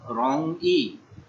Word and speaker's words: 容易: उसके बाद है नंबर 11 रोंग ई। RONG सेकंड टोन है, रोंग ई।